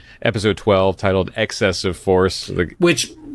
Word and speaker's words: eXcessive Force: Today we're going to be talking about season 1, episode 12, titled "Excessive Force," which. Accent on the X.